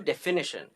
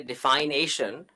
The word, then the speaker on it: definition: But notice that if I just juxtapose those two in my speech and say defination, that's not the correct pronunciation. It's not defination. A couple of vowels are changed, and then you get definition.